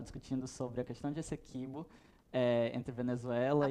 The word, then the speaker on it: Essequibo: A gente estava discutindo sobre a questão de Essequibo, entre Venezuela e Guiana. A primeira vez que alguém pronuncia certo, Essequibo.